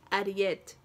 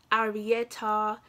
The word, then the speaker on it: Ariete: My name is not Harriet, my name is Ariet, yeah? But people struggle to say that. So I tell people, stick to the Harriet, okay? Because, you know, because people come with crap like Arietta, Ariete. It's spelled A-R-I-E-T-E.